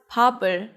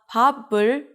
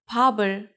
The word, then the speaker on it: 밥을: You read it as 밥을. 이응 is just the placeholder, so when there's 받침 right before 이응, the sound of the 받침 moves to the next syllable. Not 밥을, it's 밥을. Altogether, you can say 밥을 먹다.